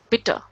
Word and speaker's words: bitte: So, as I have told you, at the end, if E is there, the sound would be of a, so bitter.